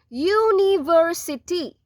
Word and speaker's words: university: University. University. This first letter is pronounced as Y-O-O, U, right?